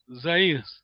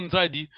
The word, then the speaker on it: Nzadi: Zaïre. Nzadi. Voilà, le Portugal a mal prononcé notre nom Nzadi.